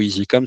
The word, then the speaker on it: ISI-COM: lui dire "Tiens, bah si tu entends le mot Easycom, sache que ça s'écrit I S I - C O M et pas E A S Y C O M."